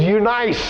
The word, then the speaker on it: Eunice: Now, if we say that today, we'd say Eunice, but my self-pronouncing Bible, can I say pronouncing? My self-pronouncing Bible says Eunice is the way it's spelled out, so that's what we're going to call her.